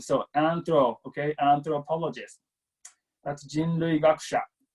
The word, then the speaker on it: anthropologist: again anthropologist anthropologist okay and it's a th sound so and I'm told okay anthropologist that's Jean Louie got